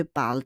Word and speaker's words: parles: And also parle. Parle. It's not parles, huh? Parle.